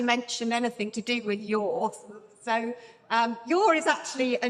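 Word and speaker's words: Yaw: Yeah, and I think, well, I haven't actually mentioned anything to do with yours.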